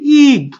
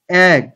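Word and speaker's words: egg: এরপর এগ ঠিক আছে আমরা অনেকেই বলি ইগ ইগ এটা ইগ হবে না এগ এগ মানে হচ্ছে ডিম ঠিক আছে মানে ইটা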